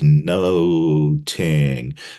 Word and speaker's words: nothing: But we're also told that Elizabethan pronunciation would have had a harder TH sound so that nothing would have sounded like noting, noting, noting.